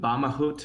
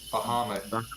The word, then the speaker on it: Bahamut: Is it Bamahut? Cancel. Bamahut? Bahamut. Bahamut. Bahamut. Okay. That's like an Egyptian pronunciation or something.